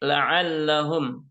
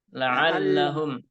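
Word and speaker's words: لَعَلَّهُمْ: Mungkin untuk ainnya, ya ainnya harus lebih ditekankan lagi, Pak, ya, pengucapan huruf ain seperti la'allahum. La'allahum. Nah, pakai ain.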